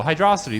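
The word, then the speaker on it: Hydrocity: can just fly over half of hydrosity also hydrosity that is how you pronounce it fight me um yeah so amazing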